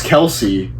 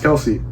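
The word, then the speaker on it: Kelce: because it's not pronounced Kelsey that's why that's my number five the kelse brothers apparently it's pronounced Kels and not Kelsey and everyone's been wrong the whole time I mean commentators I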